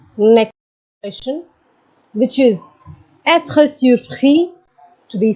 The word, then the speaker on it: surpris: Elle est surprise, which means she is surprised. So you can see the difference in the pronunciation as well. Il est surpris. Elle est surprise.